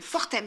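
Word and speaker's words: Fortems: david voir fortem fortem je sais pas si on dit le s on dit le malaise serait fort thème fort thème se prononcent toutes les lettres on enlève palme de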